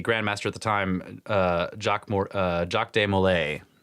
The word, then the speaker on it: Jacques de Molay: But what's, and including the burning at the stake, was the Grand Master at the time, Jacques de Molay, which is, I think, how you say it.